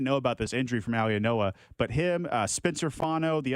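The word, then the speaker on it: Mauigoa: How do you say that guy's last name? I'm with you. Maui and Noah is how I Maui and Noah.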